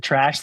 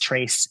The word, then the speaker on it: Tracz: a lot closer to trash than we Americanized versions of it are. But my last name is pronounced Trace, like it's an E at the end instead of a Z.